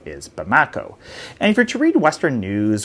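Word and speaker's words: Bamako: And in doing so, it's been really hard for fuel to get to Mali's capital, which is called, I believe the pronunciation is Bamakco.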